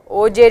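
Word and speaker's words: Auger: and this is called OJ Rec combination the r is silent and it is spelled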